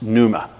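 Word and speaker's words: pneuma: word for spirit there in the Greek is Panama or pronounced Numa but it was a is a P right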